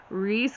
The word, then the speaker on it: Rhys: Now his name is spelled R-H-Y-S, just like the shortened version of Rhysand from ACOTAR and ACOWAR and ACOMAF and all those books. Turns out Reese has a secret, something